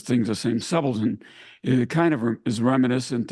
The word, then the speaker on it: subaltern: Force rank of subon so he pronounces it subaltern and he's corrected subon and so that reminded